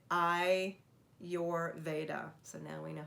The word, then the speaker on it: Ayurveda: the modalities in ayurveda so have we all practiced how to say it i your veda so now we know